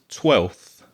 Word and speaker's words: twelfth: And the pronunciation is 12th. So 12 is the cardinal number. And 12th is with a th and it's the ordinal number.